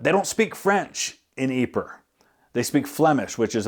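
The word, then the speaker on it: Ieper: That is a French spelling of a word that in French is, I think, pronounced Ypres or Ypres, like that. But they don't speak French in Ypres.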